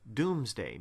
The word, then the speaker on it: Domesday: It's actually pronounced Doomsday because, as the people